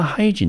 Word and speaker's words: hygiene: high， giene，好，这个 e 呢它是不发音的，那这个 ie 呢发成长音的 e 的音，重音落在第一个音节，我们就念成 hygieneHygiene，好，那 hygiene 这个字呢，它是一个不可数的名词，我们中文翻成卫生。好，我们来看一下英文的解释：The condition or practice of keeping yourself